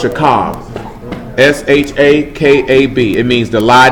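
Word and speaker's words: שָׁכַב: The last letter is a B, or a V sound, actually.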